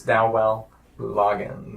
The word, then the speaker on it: Loggains: We were talking about how do we actually pronounce Dowell Loggains. It is Dowell Loggains.